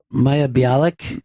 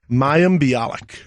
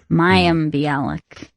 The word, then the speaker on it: Mayim Bialik: I'm surprised you're at ease in pronouncing her name, because I still... Maya Bialik? Mayim? Mayim Bialik. Mayim Bialik.